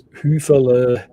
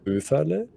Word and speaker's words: Höfele: So they mispronounce my last name as Hüfele or Hufele or all sorts of things. So the proper pronunciation would be Höfele.